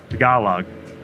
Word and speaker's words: Tagalog: on let's get the um we'll get the pronunciation up here here we go tagalog the gala log taco log tagalog there we go tagalog and then let's get